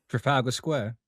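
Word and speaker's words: Trafalgar Square: Trafalga Square. Trafagler. Trafalga. Trafalger. Trafalga. It's pronounced exactly how it's said. How it's written, I should say.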